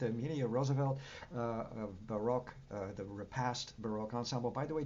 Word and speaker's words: Repast: Am I pronouncing that okay? Repast, suppose? Repast.